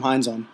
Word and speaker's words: Heinsohn: Well, there's the passing of Tom Heinz. I never pronounce his name right. Tom Heinsohn. Tommy Heinsohn. Heinsohn.